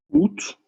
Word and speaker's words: août: It's a little bit bizarre that août, we pronounce the T as, because normally we're taught right at the beginning, we don't pronounce the last consonant, but août is an exception.